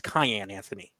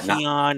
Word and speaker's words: Cayenne Anthony: it's a spicy one literally spicy because that's how you pronounce his name as we now know it's Cayenne Anthony like cayenne pepper there are many different